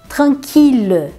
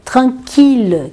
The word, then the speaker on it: tranquille: Então esses daqui sempre a pronúncia de um L só. Milliard, million, billion. E depois nós temos também a palavra tranquille, tranquille, que é tranquilo.